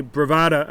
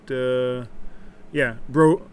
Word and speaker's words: Bovada: So I'm going to go into my Bravada account. Bravada, I think it's Bravada. Is that it? Bravada or Bravado? How do you pronounce it? Bovada. My Bovada account.